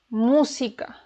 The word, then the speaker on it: música: Música is a esdrújula word and it's always accented. They always have accent. Música. You can see the accent mark in the U.